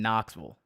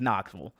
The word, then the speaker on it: Knoxville: How do you say Sevierville like a native, or even Knoxville, the city where UT is? So yeah, there's no vills in Tennessee. It's vull. I think so. Knoxville is Knoxville.